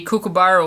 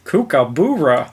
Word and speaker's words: kookaburra: bound to be a kookaburra or two laughing their heads off your misfortune more Australian pronunciation Alex Trebek on Jeopardy said kookaburra Oh again trying to put a double O instead of a you kookaburra